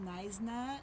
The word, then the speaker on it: Knysna: So the city is called Knysna. It's spelled K-N-Y-S-A. You don't pronounce the K.